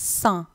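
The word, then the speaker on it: cent: Next வந்து 100, 100, அதை நீங்கள் சா தான் சொல்லணும்.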